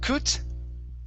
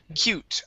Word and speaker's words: cute: cute okay right here instead of kut okay this is an ew sound okay cute lots of cute swimsuits